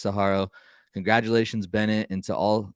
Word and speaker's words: Saguaro: bass kayak winner at saharo right did I say that right hand saharo I don't know I pronounce it Saguaro because it's like the saguaro cactus but right otherwise huge